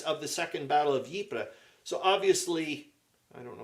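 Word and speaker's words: Ypres: Belgium um who uh got me to pronounce yipra properly um uh he suggested I should watch uh the wipers papers which is uh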